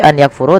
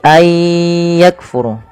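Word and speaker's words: أن يكفر: Maka ayah cara membacanya bukan lagi an yakfuru tapi ayakfuru.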